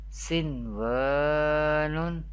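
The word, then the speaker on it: صِنْوَانٌ: How do we pronounce the Izhar-e Mutlaq rules? Dunya, Bunyanun, Sinwanun, Qinwanun.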